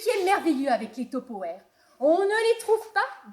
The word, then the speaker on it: Tupperware: Ça vient des États-Unis. Ça s'écrit T-U-P. Peut-être de P. E-R-W. Enfin, ça s'écrit très bizarrement. Mais ça se prononce Tupperware. Tupperware à l'américaine.